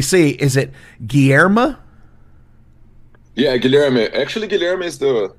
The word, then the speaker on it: Guilherme: me let me see is it GMA yeah Gilma actually Gilma is the it's the Portuguese version